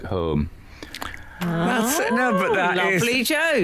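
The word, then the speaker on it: Holme: in Yorkshire which is spelled h o l m e but pronounced home yeah and on the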